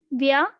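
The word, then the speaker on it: व्यस्त: So I have broken this like Vyast. Vyast. Vyast. Vyast. Vyast. Vyast. Busy means Vyast.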